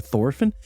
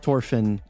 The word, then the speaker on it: Thorfinn: Now I always call him Thorfinn, because that's how they pronounce it with in the Japanese, and that's what I always hear when I'm watching the show.